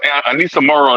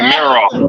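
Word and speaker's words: Aneesah Morrow: You an LSU fan, and you let him pronounce Anissa Morrow name wrong all day. He keeps saying Merrill. I'm like, who is Merrill?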